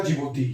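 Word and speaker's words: Djibouti: डी से हो गया आपका जिबूती, ये जिबूती कहते हैं इसको, डी साइलेंट है इसमें।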